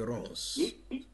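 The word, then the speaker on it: Ronz: C'est l'artiste camerounais Rance. Rance s'écrit R-O-N-Z.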